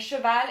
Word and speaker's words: cheval: yes jake you're right you have shah shia and chaval so you can just pretend the dog the cat and the horse are having a secret conference so sha is cat shia is dog and cheval is horse so remember shh that's